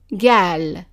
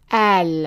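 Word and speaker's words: قال: So becomes now in the regions where the is pronounced as a g sound then that word would be gal gal.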